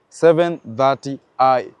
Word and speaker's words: 730i: it's going to be starting with the seven the three and the zero is pronounced as 30 so this one will be 730 I so the 30 is